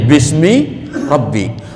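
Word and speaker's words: بسم ربك: Aku beri tanda dengan alif, bi ismi rabbik, dibacanya menjadi bismi rabbik.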